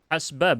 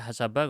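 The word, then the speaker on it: حسب: hasba biasanya saya tahu saya bacanya. Entah ada yang baca hasaba kurang tahu, tapi biasanya hasba, sinnya disukunkan.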